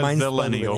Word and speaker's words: Zillennial: And I'm a Zillennial, like millennial.